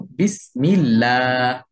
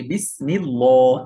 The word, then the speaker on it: বিসমিল্লাহ: এখন আমি যদি এইটাকে এরকম মোটা করে বলি বিসমিল্লাহ, এটা ভুল উচ্চারণ হবে। কেন? কারণ জের আসলে এই আল্লাহ শব্দের দ্বিতীয় লামটা পাতলা করে উচ্চারণ করে পড়তে হয়।